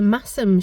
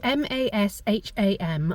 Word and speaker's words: Masham: So that was the Masham Show, M-A-S-H-A-M.